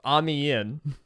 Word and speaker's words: Amiens: Wait, this is named for the way the British say French words. Amiens, with Great Britain, formally bringing an end to a decade of war in Europe.